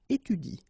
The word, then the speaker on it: étudie: So in that case, if you want to pronounce it correctly, you should pronounce it like il étudie. Okay? So the last thing that you will pronounce will be the vowel I here.